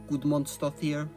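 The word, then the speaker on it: Guðmundsdóttir: Björk, aside from me finally learning how to pronounce her last name. Gudmundsdóttir.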